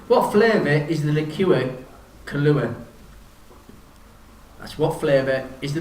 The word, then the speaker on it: Kahlua: question number seven what flavor is the liqueur kahlua that's what flavor is the liqueur kahlua k-a-h-l-u-a